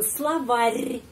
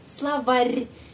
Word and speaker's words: словарь: Мне нужен словарь, словарь, ya pengucapannya penting dalam bahasa Rusia, bukan словарь. Jangan ignore ya, jangan ignore tanda pelemah.